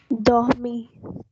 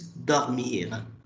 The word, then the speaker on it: dormir: So in French, actually, the pronunciation of this R is slightly like H. How will you pronounce this word if I write this? How will you pronounce this? Dormi. Yes, it's dormir. That H should be there. That R will be slightly pronounced as H.